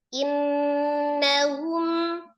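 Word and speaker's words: إنهم: Tahak saya kan bacanya hum. Bukan huma, bukan humi, bukan humu. Hum.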